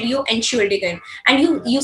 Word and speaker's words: Entschuldigung: This is your formal way, but when you are using in a very casual way, so it becomes Entschuldigung.